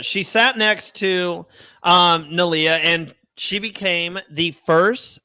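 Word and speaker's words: Neleh: nah niia nah nalia okay so singer like but with an N nalia she nalia she sat next to um nalia and she became the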